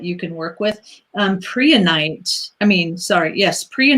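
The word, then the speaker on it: prehnite: last down but they said this and so Priya night Priya night and three tonight is spelled p r e h ni te here's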